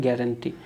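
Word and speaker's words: guarantee: इसको लिखा जाता है ग्वारंटी, लेकिन बोला जाता है गारंटी।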